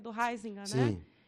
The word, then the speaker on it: Huizinga: Eu chamo de Ruizinga. É excelente esse livro. Aliás, eu chamava de Ruizinga. Como é que você chamou? Huizinga. Certamente a sua pronúncia é mais certa.